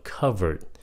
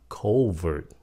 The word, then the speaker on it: covert: dụ cái chữ này hồi xưa chữ này phát âm là covered mà bây giờ Đa số người ta phát âm là covert chữ này phát âm